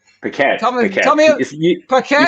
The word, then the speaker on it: Paquette: So all right, Paquette. Paquette. Tell me, Paquette. You said it right the first time. Okay, I screwed it up. All right, yeah. Well, QU often goes Paquette, like quack quack, but no.